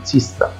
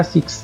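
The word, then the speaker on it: six: ا كمان هنا كلمه سيست سي يعني سته لو انتم ملاحظين هنا النطق مختلف يعني هنا قلت س ما قلتش ما قلتش هنا سكس لا تنطق هنا وهنا برض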